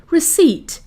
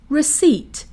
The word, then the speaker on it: receipt: acknowledge act knowledge acknowledge receipt receipt receipt the p is silent acknowledge receipt of this letter it